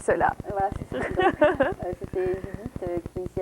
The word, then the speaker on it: Judith: D'accord, donc c'était Judith, donc ça se prononce on prononce T à la fin, Judith, qui est de Paris, n'est-ce pas?